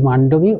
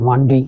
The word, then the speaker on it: মান্ডবি: আমরা বলি মান্ডবি, ওরা এই বটা উচ্চারণ করেন না, মান্ডুই এরকম হলে।